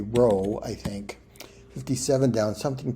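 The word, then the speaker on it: rho: 62 down Greek P well not pronounced P but that that uh character in Greek would be a a row I think 57 down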